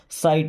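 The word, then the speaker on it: sight: Of means का या से, माई साइट, माई मीन्स मेरे, साइट यहाँ पे जीएच साइलेंट ना, सिगाट नहीं, साइट।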